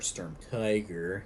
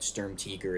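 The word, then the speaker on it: Sturmtiger: stormteger being added or storm tiger because you know American but Sturm teaker is the correct pronunciation uh german-wise um as her favorite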